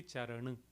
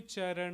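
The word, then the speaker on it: चरन: it as ER but in North Indian languages we would pronounce it as uh we don't go ah fully with the mouth open we keep the mouth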